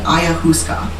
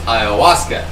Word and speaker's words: Ayahuasca: will talk about taking Ayah Huska which I hope I said that right but that's a plant-based psychedelic she did not it's Ayahuasca and that's okay it